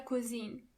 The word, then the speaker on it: Cousin: Cousin in plural, you have to add a French pronunciation to it. Correct. Let's go through the new words one more time. Der Onkel. Die Tante. Der Cousin.